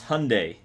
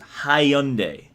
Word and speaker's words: Hyundai: to me well anyway how do you pronounce Hyundai Hyundai or you get pronounced at hye-young day depending on if you're British or American okay back to the